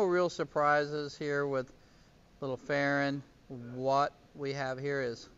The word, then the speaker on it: Farren: woof from miss farren you say farron just like you would karen but it's spelled with f so a little fair